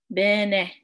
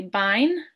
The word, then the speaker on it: bine: Bene. Bene. So you might want to say bine, but it's not pronounced that way. It's pronounced be with the IH sound. Ne with the N-E-H sound, so bene.